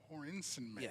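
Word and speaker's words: Hoernschemeyer: and I'm going to and I got the pronunciation here Hensen Mayer hor insen mayor yes Bob Hornen may I uh his nickname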